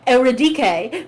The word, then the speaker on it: Eurydice: I will put up with Eurydice, because it's at least better than Eurydice, but it is not Eurydice, which is how it's actually fucking pronounced.